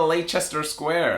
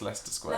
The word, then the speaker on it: Leicester Square: Yeah, I heard an American once be like, oh, we're going to Leicester Square. And I was like, no, it's Leicester Square. Leicester Square.